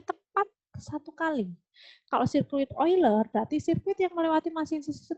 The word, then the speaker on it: Euler: lintasan dan sirkuit oiler bacanya bukan euler ya tapi oiler ya apa sih Bu bedanya